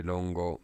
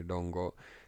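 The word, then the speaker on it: Rongo: In Chinese, it's the Lunyu. Japanese say Longo. Same kanji, they pronounce it differently, Longo.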